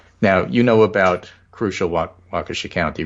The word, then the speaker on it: Waukesha: happening in Wisconsin now you know about crucial Waukesha County right you know we all know that group and the suburban Wow counties yes Washington while Keesha and rocky okay pronunciation welcome but those are